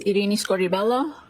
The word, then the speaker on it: Irini Scordi-Bello: My name is Iini Scorelloo. That's spelled I R I N I S C O R D I B E L L O.